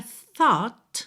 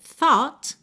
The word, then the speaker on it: thought: Mas o gh não é pronunciado, tá? fica totalmente silencioso. Então, teríamos thought, thought, mas esse ter final virou rarã para juntar em ofin.